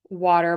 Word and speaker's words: water: in the chat and in English we are going to say dur at the end of the word water water water water water so think about that as being spelled like water okay so I hope